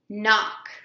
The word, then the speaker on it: knock: we've already learned that k n when they're together the K is silent so KN says mmm Ock is going to say Ock sound that out mmm och knock knock next one is a